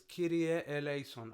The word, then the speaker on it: Kyrie eleison: Okay, so it's Kyrie eleison. I hear Kyrie eleison. I'm like, there's no alpha. Go say Kyrie eleison to a Greek person. They're just gonna laugh.